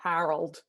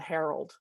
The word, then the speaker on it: Harold: to me okay um i have to pronounce it with a different vowel here in australia harold i like that in the states it's called the herald that is really close to the herald yeah excellent so um